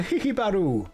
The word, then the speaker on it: Hihibaru: Let's go speak to Hihibaru. That's how you pronounce it. Don't laugh at me. That's exactly how his name goes.